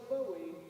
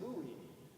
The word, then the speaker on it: Buie: on his good side it looks like Bowie but it's pronounced buoy and now the person